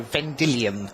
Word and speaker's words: Vendilion: And I did think that Vendilion Clique, which sounded very French and sophisticated, it turns out that's 3 fairies' names. So Vendilion it is, Vendilion Clique.